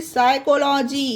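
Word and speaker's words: psychology: उसी तरह से सैल्मिस्ट, MIST, सैल्मिस्ट, यहाँ पर भी पी साइलेंट है, पी के जस्ट बाद एस आया है। उसी तरह से साइकोलॉजी, इसे पढ़ा जाता है साइकोलॉजी।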